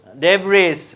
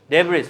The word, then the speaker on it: debris: এই ভদ্রলোকের নাম ডেব্রি। ডেব্রি, ডেব্রিস বললে বোঝা যাবে না, নেটিভরা বুঝবে না। আর তাদের সাথে তো আমরা ব্যবসা করতে চাই, তাদের সাথে কমিউনিকেট করতে চাই। তাহলে আপনি ডেব্রিস বলবেন, ও বুঝবে না, ও বলবে ডেব্রি, ঠিক আছে?